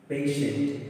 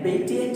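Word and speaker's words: patient: जैसे एग्जांपल के लिए देखिए पेशेंट, देखिए टी के बाद क्या है, आई है, तो इसका प्रोनाउंसिएशन क्या हुआ, शा हुआ। इसके हम लोग इसको क्या बोलते हैं, पेशेंट। ये क्या नहीं है, पार्टिएंट नहीं है, यानी पेटिएंट नहीं है, क्योंकि टी के बाद आई है तो इसका प्रोनाउंसिएशन शा होगा।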